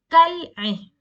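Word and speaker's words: كالعين: In this case, when there is a Kamariya letter, you will pronounce the lam. Kal-ain.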